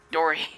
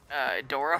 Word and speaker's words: Dory: I got it right the first time this time. I've been saying it wrong since it came out. And I don't know what my malfunction is, but I just can't say it right. Like, I just keep saying Dora first, and I'm like, that's not right.